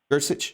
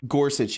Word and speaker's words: Gorsuch: people are pretty young gersich is that is that how it's pronounced gersich gorsuch gorsuch yeah he's he's a little